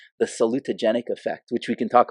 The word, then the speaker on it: salutogenic: Okay, think salute. Okay, so just remind me, your daughter's going to the military? Salute. It's like 5 syllables.